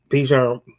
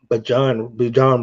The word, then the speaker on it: Bijan: You know, Bijan Bijan Robinson said right because he told us how to correct this name, how to say his name.